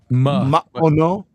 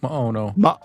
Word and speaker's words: Maono: You basically Maono. cut that off a little bit. Maono. Maono. Yeah, it sounds to me like Hawaiian, like how Hawaiians pronounce things, but Yeah, I like just mahalo.